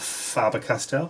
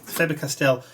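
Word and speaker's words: Faber-Castell: color - these are the favored castel of farber Castile whichever you want to pronounce it faber castell Neal colors and I'm going to just throw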